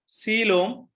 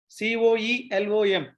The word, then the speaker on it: coelom: You listen carefully how the words I am pronouncing. Germinal layers, coelom, COELOM, coelom, segmentation, notochord.